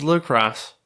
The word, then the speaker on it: La Crosse: where she's from nice well I'm glad I pronounced it right or is that Lacroix no that's IX right no no no no no it's Luke Ross anyway so what I'm